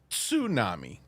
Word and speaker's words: tsunami: Not only is he going to know, he's going to correct S and say that it's pronounced tsunami.